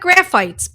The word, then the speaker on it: Graphites: Graphites. It looks like graphites, but because this is Latin, we pronounce it a little differently.